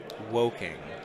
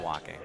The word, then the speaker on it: Woking: Some Brits correcting my pronunciation. It's woking, not walking.